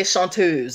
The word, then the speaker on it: chanteuse: is the elusive chanteuse or i should say shantuz that's actually how you pronounce it it's not the elusive chanteuse it's